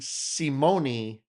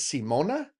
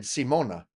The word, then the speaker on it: Simone: But, someone did comment that I was pronouncing Simone incorrectly. I guess her name is Simona. That's what they said, Simona.